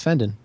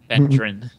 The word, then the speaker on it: Fendon: I always want to throw an R in your name and say Fendron. Say what? The way I remember you you telling me how to pronounce it, you said it was like Brendan, so...